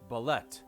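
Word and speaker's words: bulette: see i'll just play it through the stream ballet ballet thank you matt mercer that mercer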